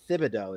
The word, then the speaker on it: Thibodeau: Tibbs could be Thibodeau is how that's pronounced, but his nickname is Tibbs, which doesn't make any sense to anybody.